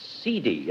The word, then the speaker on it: cedi: e d i yes I think it's pronounced cidi uh but Ki why not probably the modern pronunciation as as as in Latin um whose turn is